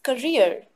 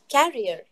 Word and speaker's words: career: to notice here is career it is not carrier carrier is used to carry good and it spells like see a